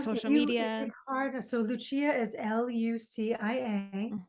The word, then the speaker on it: Lucia: media so Lucia is l-u-c-i-a the Italian pronunciation uh Lucia or Lucia so Lucia's